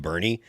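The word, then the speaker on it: Boerne: The town that I used to live in in Burn called Bernie. It's spelled B O E R N E and which is super. It's a German spelling and there's there's a lot of Germans down there still.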